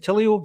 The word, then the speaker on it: Tilio: But the new guy being injured, the guy we've just signed, Tilio, is that how you pronounce that?